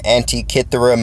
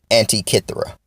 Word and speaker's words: Antikythera: J and the intellect back real quick want to bring up a topic about Antikythera mechanism the Antikythera Antikythera mechanism well this was